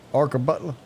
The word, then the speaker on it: Arkabutla: And I still can't pronounce it. It's fishing up there. Am I saying this right? Butler. Say it. Arkabutla.